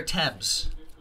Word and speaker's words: Thames: 25 across the pot you say Eric Thames air temps like the River Thames that's how they say it across the pond Marylou with the Cubbies